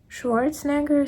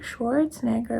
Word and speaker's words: Schwarzenegger: somewhere so Arnold Schwarzenegger how do you pronounce it in English I know in German but in English Schwarzenegger schwarzen Schwarzenegger right yeah so he's in in